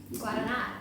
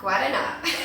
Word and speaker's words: Guaraná: This is, I think you pronounce it Guaraná. Guaraná.